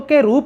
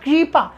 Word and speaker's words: कृपा: जैसे आपने कहा, मान लीजिए कृपा, तो आपने कहना यह था कृपा, आपने इसको क्री कह दिया, यानी क के साथ र प्लस ई की तरह उच्चारण कर दिया। अब ये उच्चारण आपने गलत किया, भाषा ने तो गलत नहीं किया ना मित्रों।